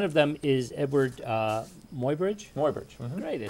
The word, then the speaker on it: Muybridge: Muybridge.